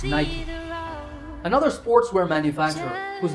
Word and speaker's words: Nike: the sportswear manufacturer nike that's right it's not knight there are two syllables knight and key in fact the company's co-founder phil knight himself confirmed in 2014 that the correct way to say the company's name is nike another sportswear manufacturer whose